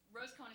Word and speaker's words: Rosecohen: Rosecohen is pronounced as one word, like Long Island in New York.